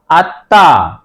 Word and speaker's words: আত্মা: আত্তা আত আত্তা তৈরি আকারে তা আত্তা এটা উচ্চারণ হবে আত্তা একটি জিনিস মনে রাখতে হবে শব্দের মাঝে বা